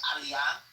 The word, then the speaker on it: aliyah: there are certain words everybody knows how to pronounce. So instead of saying aliyah which is you know the naturalization process in Israel. She kept saying, um, what did she say? Alia was like, you're not freaking Jewish.